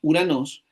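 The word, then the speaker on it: οὐρανός: También usamos esta palabra Uranos para explicar que cuando la Omicron está unida a la Yilon se leen las dos juntas como una u.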